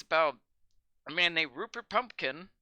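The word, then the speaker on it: Pupkin: It's about a man named Rupert Pumpkin. Don't mispronounce it as Pumpkin like everyone else does in the movie. Lots of people get the name wrong.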